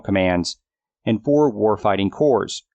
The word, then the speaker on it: corps: and four war fighting cores pronounced core when singular not corpse there are no zombies here they are the first